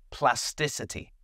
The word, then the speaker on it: plasticity: Plasticity. Plasticity. It comes from the word plastic. So you have to be careful. There is no k in this word. Plasticity.